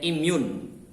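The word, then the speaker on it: immune: gerak tambahan namanya improvisasi kemudian inhyun bacanya im yoon ya imun atau kekebalan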